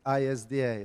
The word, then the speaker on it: ISDA: Swap and derivative Association it's not YMCA it's isda okay you know you when you spell it like that it's almost automatic to start singing but it doesn't work like that it's much more serious